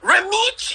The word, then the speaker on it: Romeich: You have to say it like young brother. Romeich Entertainment. Romeich.